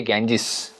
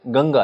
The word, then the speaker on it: गंगा: देश का सबसे इंपॉर्टेंट नदी है गजस भाई गजस क्या होता है गंगा है रियल नाम तो गंगा है तो एक व्यक्ति ने उसको मिस प्रोनाउंस किया तो हमने उस नाम को ले लिया एज अवर आइडेंटिटी तो इसमें दिक्कत है गंगा बन गया गेंजेस वैसे ही जमुना बन